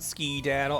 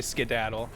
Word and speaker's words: skedaddle: like to pronounce it ski-daddle. I mean, I typically say skedaddle, but with the voice I was given that guy, I figured he was the type who'd say ski-daddle.